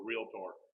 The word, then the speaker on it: realtor: time about the word realtor. Because most of us say a lot. How do you say it? Yeah, realtor. There's no A in that. Realtor. I was on when I used to do radio.